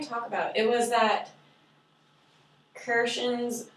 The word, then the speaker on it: Krashen: It was that Krashen's, how do you say his name?